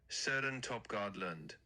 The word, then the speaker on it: Søren Torpegaard Lund: So, you'd say it like this. Søren Torp Gaardlund. The o sound is kind of like the i in bird. So, just soften that vowel and you'll be spot on.